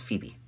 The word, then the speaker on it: Phoebe: phoebe trainers people love that's phoebe not phobia phoebe that's how you pronounce